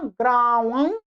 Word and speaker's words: ग्रामं: इसका सही वास्तव में एकदम उच्चारण क्या होगा, रामः ग्रामं ग्रामं ग्रामं गच्छति।